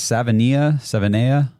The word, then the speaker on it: Savaiinaea: And how did you say it's Savaiinaea?